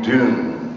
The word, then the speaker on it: Dune: you can call me dune which rhymes with moon and tune and noon and all that stuff